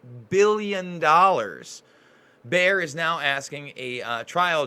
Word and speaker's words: Bayer: Now, Bayer is actually how you pronounce it. I'm always trying to correct myself when I'm wrong.